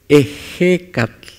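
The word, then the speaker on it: Ehecatl: Y no es ejecatl, es ejecatl. Viento. Eje, eje, lleva el acento en la E.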